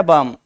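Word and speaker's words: balm: तो ये बन गया बाम एल देखो उसमें साइलेंट रहेगा बी ए एल एम में तो ये थे फर्स्ट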